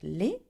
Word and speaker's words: les: Okay, and you put an S at the end, though you don't pronounce it as you do in English.